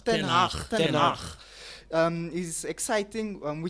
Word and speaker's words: Ten Hag: Eric Ten Hag. Ten Hag.